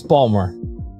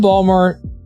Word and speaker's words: Baltimore: A lot of people would pronounce the T in that lot. No, it's it's Balmer that if you're from if you're from Balmer, it it it's it's And now I'm conscious about saying the word.